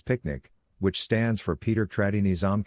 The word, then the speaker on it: PQNK: PQNK to be pronounced as picnic which stands for Peter Trinisam cash outari and means the regenerative and sustainable pristine organic farming system.